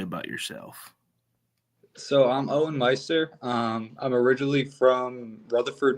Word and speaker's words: Meister: University, California, Punter Owen Mester. Man, how's it going, bro? Did I say your last name? Uh, it's it is Meister. Meister.